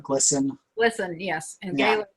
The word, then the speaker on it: GLSEN: GLSEN, I think they usually call it GLSEN.